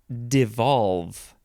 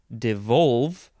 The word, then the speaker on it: devolve: in this episode is devolve you could say de valve devolve or D valve but the second syllable is always emphasized devolve d-e-v-o-l-v-e verb from